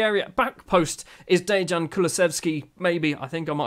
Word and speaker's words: Kulusevski: Kulusevski.